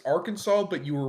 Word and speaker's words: Arkansas: Also, pronouncing it like that way is a crime in my state. Yeah, it's Arkansas. It's Arkansas, but you were right about Fagatville.